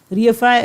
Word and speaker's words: reify: तो रियफाई is realise, रीएफाई is realise. देखिए realise जैसा प्रोनाउंसिएशन ही रीएफाई का है, इसलिए आपको और याद हो जाएगा।